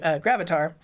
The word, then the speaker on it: Gravatar: Yeah, no worries, but it's super interesting to see how Gravatar, is it Gravatar? Oh, I'm not saying it wrong. Gravatar. What does that sound like? Avatar? Gravatar. Oh, because it creates avatars.